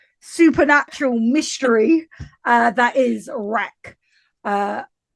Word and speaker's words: REC: Uh that is wreck. Uh I feel like it shouldn't be pronounced like that because obviously short for record so it should be like rick.